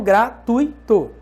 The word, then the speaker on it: gratuito: Então, gratuito. Não é gratuito, tá, galera? É gratuito. Cuidado com essa pronúncia correta. É gratuito, ditongo. Não é gratuito, hiato.